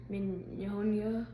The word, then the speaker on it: pneumonia: Try it one more time with an N. It sounds like an N. Oh, pneumonia. There you go. Okay. Much better. Yeah. Spelled with a P.